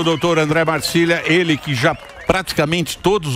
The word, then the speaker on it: Marsiglia: Marsiglia que se escreve. Isso, Marsiglia. Italiano. Família. Exatamente, André Marcília.